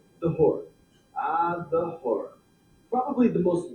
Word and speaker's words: Hora: The word Hora may rhyme with Torah, but its roots are